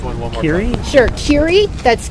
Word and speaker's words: Kerry: That's Keery Yamaguchi. That's Yamaguchi. We will need to check pronunciation on that.